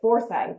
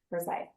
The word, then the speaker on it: Forsyth: So I went 12 years with saying it Forsyth instead of Forsyth. Forsyth.